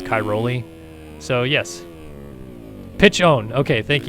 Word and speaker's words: Cairoli: names right, so they'd rather just say Antonio Carioli instead of figuring out that his name is Cairoli.